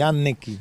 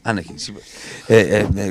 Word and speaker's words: Anecchino: Allora, Enrico Annecchino, si scrive con una N, si pronuncia con due. Quindi Annecchino. Annecchino, come egli stesso Siamo dice.